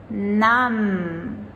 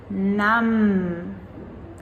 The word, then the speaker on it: numb: So numb has the silent B, but number, now we pronounce that B.